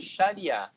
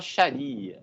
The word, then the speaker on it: Sharia: islâmica ou ainda de Sharia. Tem gente que fala Sharia, né, por influência do inglês, mas a pronúncia mais adequada é Sharia.